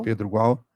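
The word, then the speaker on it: Pedro Gual: de estudos diplomáticos superior de Pedro igual a pronúncia correta qual Pedro igual escreveu várias investigações entre aquelas fronteiras fechadas que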